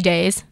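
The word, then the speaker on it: Deyes: Wait, did you say Alfie Days? Alfie Days. Same. Okay. That's a great name. Yeah. Is that his real name or is that like his YouTube? It's spelled D-E-Y-E-S.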